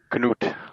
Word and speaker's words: Knut: But the K is silent, and when I lived in Germany, it was Knut, like the ice bear.